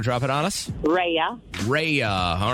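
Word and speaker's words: Rhea: so you want to drop it on us reya all right can you spell that real quick just to make sure we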